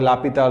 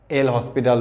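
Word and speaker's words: L'Hôpital: আমাদের লা হসপিটাল rules তো এটাকে অনেকে বলে লাপিতাল রুলস এল হসপিটাল রুলস লাপিতাল মানে যে যেরকম করে উচ্চারণ করে উচ্চারণে কোন বাধা নাই যেহেতু দেশের বাইরে পৃথিবীর বাইরের একটা নাম তো আমরা এটাকে লাপিতালও বলতে পারি তোমরা যদি বলো এল হসপিটাল বলো বড় কোন সমস্যা নাই যদি বলো হাসপাতাল যদি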